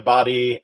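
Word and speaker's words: Badie: mixed bag um Tyler body uh body there's some debate about how his name is pronounced so it is B it is B confirmed it this week yep source is him I I like what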